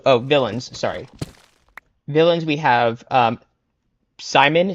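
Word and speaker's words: Psimon: Villains, we have Simon, spelled with a P, like Psy, who is telepathic and evil.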